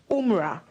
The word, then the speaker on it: Umrah: taking part in the, Maltiti taught me this pronunciation, Umrah. Umrah, I'm sure she'll be so proud of me.